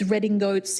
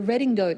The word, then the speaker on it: redingote: Although redingote is the most fantastic triple meaning because it comes from riding coat being pronounced in French as redingote and then being translated back into in coming back into English as redingote.